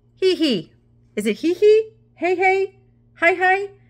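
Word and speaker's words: Heihei: can show you he is it he he hey hey hi how do you say it it's h-e-i-h-e-i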